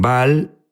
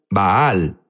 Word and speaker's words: Baal: Jesús habló sobre bal unos dicen bal baal es la pronunciación correcta correcto pero sabes qué